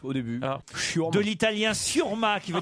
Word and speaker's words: chiourme: Mais c'est Comment ça, ça les- s'écrit, churme?